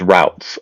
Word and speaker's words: routes: he says, roots and what I would say pronounce as routes, ROUTS, right?